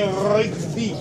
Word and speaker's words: rugby: C'est rugby. Le R, tu le roules, le R.